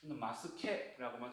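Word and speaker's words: ます形: 근데 요거는 마스라는 형, 무슨 변화형이기 때문에 단어로 쓰이기 때문에 얘를 카타치라고 읽지 않고 형에 해당하는 케라고 있습니다. 그래서 일반적으로 뭐 다른 뭐 공부 자료를 검색하신다고 네이버나 이런 데 찾아보시면은 마스, 한글로 마스형 쳐도 나오고요. 마스케라고만 쳐도 많은 자료들이 나올 겁니다.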